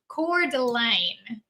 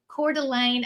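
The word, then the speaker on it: Coeur d'Alene: Uh Sherry says it's pronounced Cordelane is where you're going. Cordelane at home.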